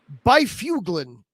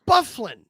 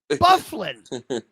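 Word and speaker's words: Byfuglien: in the video game, they pronounced it Byfuglin. And I was sitting there the whole time was, who the hell is Byfuglin? Oh my gosh. That's Bufflin. Bufflin.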